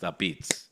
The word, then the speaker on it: apizza: But- APIZZA. Like there's literally an A in front of The- word the pizza. It's gentleman- pronounced a beats.